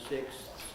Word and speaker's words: sixths: but that's difficult so probably you ought to aim to say it in the the way that keeps each sound in fifths and sixths but of course it